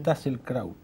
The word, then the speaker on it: Tasselkraut: Se pronuncia Tasselkraut. Tasselkraut, bien alemán.